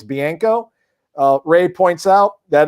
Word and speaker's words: Bianco: bianco yeah but that's just me speaking of pronunciations i always thought was bianca we all call him bianca but then he's like it's bianco ray points out that it's pronounced marchio nico